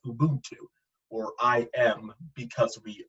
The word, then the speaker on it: Ubuntu: And there was this methodology a lot of the citizens had there, and it's pronounced Ubuntu, or I am because we are, and this very community-centric ideal.